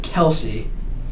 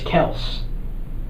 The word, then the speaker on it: Kelce: but his name isn't Kelsey it's Travis Kel like the E is silent like completely silent I just learned this